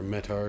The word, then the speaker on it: METAR: Let's see if we can get the meter information, or METAR, excuse me. I always say it wrong, or METAR, excuse me.